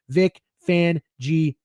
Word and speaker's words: Vic Fangio: Vic Fangio. 4 syllables, bitch. 2 words, 4 syllables.